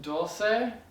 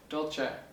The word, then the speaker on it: dolce: This one can be pronounced dulce, dolce, or probably a few other ways, but I usually pronounce it dolce.